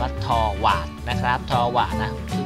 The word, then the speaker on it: Torvald: ครับ ว นะ ทว ทว อ่ะ ต้อง อ่าน ว่า ทวา นะ ครับ ทวา นะ